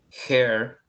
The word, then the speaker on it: hair: mouth, mouth, hair. Bien, esto lo pronuncio como con una J, hair, hair, cabello, shoulder, shoulder,